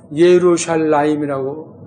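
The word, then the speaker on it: ירושלים: 여긴 있고 원래 나오는데 원래 예루샬라임이라고 발음하잖아요.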